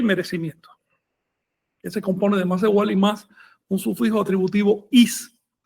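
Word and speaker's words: macehualli: Entonces el sustantivo tli no se pronuncia tli, sino li.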